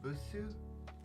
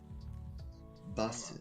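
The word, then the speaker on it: バス: Is that busu? Basu.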